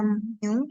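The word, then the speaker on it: μ: Din dinotasikan dengan simbol seperti itu kemudian dibaca mu sehingga apabila bacanya Mi maka Mi adalah sama dengan x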